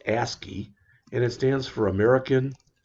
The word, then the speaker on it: ASCII: that's called that is called ascii which is pronounced ascii and it stands for american standard code for